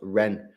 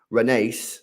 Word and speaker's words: Rennes: Rennes is pronounced Ren. I live quite near there. No way. Is that how you actually say it? Ren. I've called it Rennes. Renace. I've literally called it everything other than Ren.